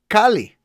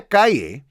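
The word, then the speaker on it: Calle: we also got sasha kali kaiye i mean i want to say because that's how you pronounce c-a-l-l-e but sasha kaye is our new super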